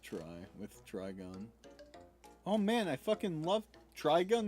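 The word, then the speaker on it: Trigun: That's a nut terron pronounced try with try gun.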